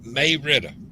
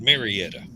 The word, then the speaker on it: Marietta: it pronounced then uh most of the locals say may ritter it's spilled marietta okay yeah well donna